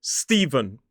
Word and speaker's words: Stephen: It looks like Stefan, but technically the pronunciation of this one is Stephen. So it has that V sound in the middle.